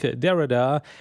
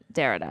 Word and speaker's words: Derrida: heard the name Jacques Derrida. Is that how you say it? Derrida, Yeah, exactly. Derrida. Some people say Derrida, but I think it's Derrida.